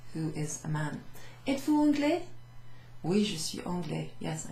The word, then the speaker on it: anglais: Because anglais is pronounced without the E at the end, we're asking someone who is a man. Êtes-vous anglais?